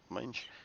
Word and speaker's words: Mange: talked about Mange. last week or rather. Mange, like the semi bold one. Yeah. Mange is it's like it's a condition that animals get.